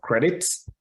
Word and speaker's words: credit: adiola did it the founder and CEO of credits uh it's pronounced c-r-e-d-i-t credit um about 2.5 billion people